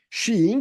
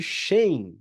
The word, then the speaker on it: Shein: na bolsa de Londres xin que é o nome a Aparentemente a pronúncia correta da que que algumas pessoas cham de shan empresa de fast Fashion